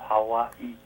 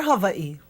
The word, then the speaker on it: Hawaii: not as hard V how is the island of Hawaii pronounced well I say that you can say Hawaii or Havi either one okay okay the question was